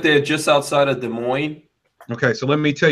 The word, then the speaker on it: Des Moines: There's an S in there. Don't pronounce the S.